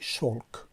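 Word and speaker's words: шёлк: شلک با یا نوشته می شود، اما تلفظ می شود چی؟ شلک، که معنایش به زبان خودمان چی؟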